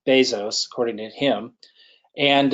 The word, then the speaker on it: Bezos: ones are Jeff Jeff Bezos is how he pronounces his name some people say Bezos but it's Bezos according to him and it's Steve Jobs and